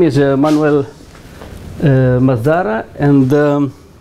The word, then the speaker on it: Manuel: uh my name is Manuel it's a Spanish name actually Manuel is the English pronunciation but it's a Spanish name actually is a Hebrew